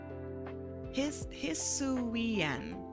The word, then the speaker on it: Hisuian: Hisuian. That's how you pronounce it.